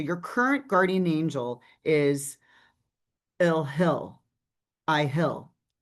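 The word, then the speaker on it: Iahel: And that that so your current guardian angel is IL. It's spelled I A H E L.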